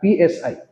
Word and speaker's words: psi: स PSI स P silent है एंड इट इज़ a Greek alphabet just like alpha beta gamma.